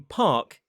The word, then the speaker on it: park: replace any vowel, and R's are often silent in modern British RP. So how can you teach a child that the R in park is silent? I've heard my son sounding out the word saying p-a-r-k, park, but not pronouncing the R when he says it.